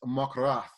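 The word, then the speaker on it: מחרת: If you were to try to spell it in English, it would be more like Mochhorath.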